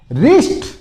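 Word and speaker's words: wrist: इसमें भी क्या देखो डब्लू साइलेंट रहेगा कहां से बोलोगे यहां से रिस्ट बहुत से बोले रिस्ट बोलने में दिक्कत आती है डब्लू आर आ गया लेकिन ये साइलेंट रह जाएगा आपको रिस्ट बोलना है इसका मतलब होता है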